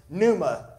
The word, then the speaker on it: pneuma: That Greek word is pneuma. It's spelled just like pneumonia.